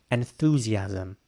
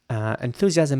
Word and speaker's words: enthusiasm: enthusiasm a great word this might be quite hard to pronounce if you're not a native English speaker because of the th you have to put your tongue in between your teeth for that one enthusiasm enthusiasm means intense